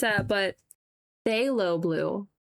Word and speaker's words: phthalo: I don't know where it's at, but phthalo blue. The P is silent.